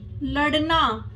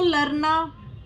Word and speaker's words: लड़ना: इनके उच्चारण में र शामिल होता है, जैसे सड़क, लड़ना, बूढ़ा। ठीक है। आपने देखा होगा, जो कुछ जो लोग होते हैं वो सड़क को सरक बोलते हैं, लड़ना को लरना। तो अड़े और रे मतलब सेम ही साउंड हो जाती है। सड़क, लड़ना, बूढ़ा, इनका उच्चारण अलग होता है।